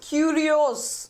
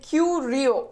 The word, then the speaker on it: curios: me you sorry okay this pronounced as curios okay Q Rio okay curio and curios is the plural form it is basically something